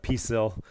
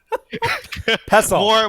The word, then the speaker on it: pestle: But yeah, so Peaceful, yeah, thank you. I did say that. Pestle. More pronunciation, guys.